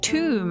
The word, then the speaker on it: Thumb: And we have the page for thumb or pronounced tomb.